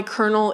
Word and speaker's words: Colonel: When I tell people that I know why Colonel is spelled with an L and pronounced with an R, everybody's like, I've always wondered about that one.